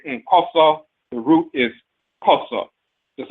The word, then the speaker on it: Nkoso: Koso is called Nkoso. That N is a nasal prefix, but the root is koso.